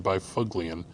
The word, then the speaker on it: Byfuglien: A Dustin Byfuglien, which I pronounce Dustin Byfuglien.